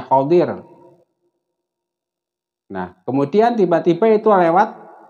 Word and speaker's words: Khidhir: kemudian menurut Ibnu Abbas dia adalah Al khibir yang membacanya khodir nah kemudian tiba-tiba itu